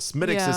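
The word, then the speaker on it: Smithwick's: we love uh smith smith wix is outspelled smitic's house pronounced they've been a brewery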